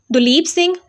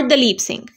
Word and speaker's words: Duleep Singh: what was his name his name is pronounced as both duleep Singh or dalip Singh was a first South